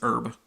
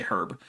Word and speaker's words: herb: a yeah yeah so American varieties of English tend to drop the H in the word herb but not in other